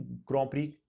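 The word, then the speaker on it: Grand Prix: अच्छा, मैं आपको इसमें ग्रॉ प्री बोल रहा हूँ, देखिए इसका प्रोनाउंसिएशन ग्रॉ प्री ही है। ग्रैंड प्रिक्स लिखते हैं लेकिन बोलते ग्रॉ प्री हैं, क्योंकि वो फ्रेंच फ्रेंच की तरह बोलते हैं उसको, वो तभी से उसको ग्रॉ प्री बोला जाता है।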